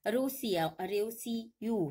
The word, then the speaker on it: Roseau: जबकि डोमिनिका का Saint Dominica नहीं है, रोसियू है। रोसियू यानी कि इसकी जो स्पेलिंग होती है वह होती है ROSEAU।